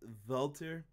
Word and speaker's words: Walter: is a brute and I should say it like Brian Williams it on the preview show its vaulter he is a beast